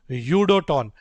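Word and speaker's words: UdoTan: If Udoton gets an offer, if Udoton, by the way, for everyone here in chat, it's pronounced Udoton.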